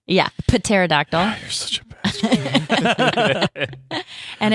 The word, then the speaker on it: pterodactyl: pterodactyl spelled with a P. Yeah, pterodactyl.